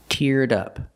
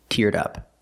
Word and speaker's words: teared up: Link the d sound. Teared to the next sound. Uh, in up. Teared up. Dupd. Teared up.